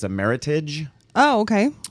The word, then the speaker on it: Meritage: always called it a meritage but it's a meritage oh okay it's uh rhymes with heritage heritage okay uh-huh it's